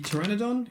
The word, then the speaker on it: pteranodon: so i opened the pteranodon is that what it is okay so the the p is silent in these but also um i